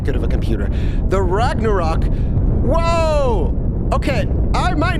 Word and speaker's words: Ragnarok: very very goofy okay and I know it's pronounced Ragnarok sorry I don't know why I'm calling it Ragnarok okay okay let's let's see how we're doing